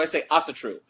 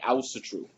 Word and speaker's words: Asatru: technically I'm American so I say Asatru the actual pronunciation would be ousted true I was so sure that's the Icelandic pronunciation but I'm not as